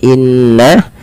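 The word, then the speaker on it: إِنَّ: Ada ghunah yang paling tinggi adalah ketika nun dan mim berharakat tasydid. Maka di sini ketika nun ada atau mim berharakat tasydid maka ditahan suaranya sepanjang dua harakat. Inna inna tidak langsung dilepaskan.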